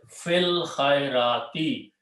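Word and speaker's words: في الخيرات: And you read together, we don't pronounce this alif. Fil khairati, in doing the good deeds.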